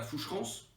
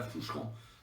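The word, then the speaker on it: Foucherans: Donc hier, je dis à l'Assemblée nationale mais on revenait, on est allé à Foucherance. On prononce pas le Ah ouais, on se prononce pas le S, on est all à Foucher dans le Jura.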